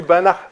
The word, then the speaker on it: Banach: pas du tout simplement j'ai pensé allemand parce qu'on parle de prononciation je pensais moi la prononciation allemand que je ne savais pas comment on prononcés en polonais donc on dit bana bana prévu donc c'est